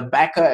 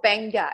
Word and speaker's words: Beqa: them across to the Baka. Is it Baka Lagoon or back? How do you pronounce that? It's called Benga. It's Beqa Lagoon Resort.